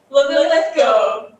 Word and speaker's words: Linlithgow: So please, for the first time and last time, can you please pronounce where you're from? Linlithgow. Linlithgow, of course, it's easy.